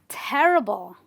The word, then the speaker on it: terrible: So we stress on the terrible. We stress on the syllable just before the IBLE.